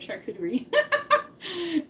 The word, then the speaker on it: charcuterie: So, if you're not new to charcuterie, uh first of all, that's how you say it, charcuterie. It's not a shark.